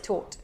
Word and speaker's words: taught: No intentes pronunciar la GH. Imagina que estás pronunciando algo así. Taught. Taught. Sin R, por supuesto, pero con R inglesa, ¿no?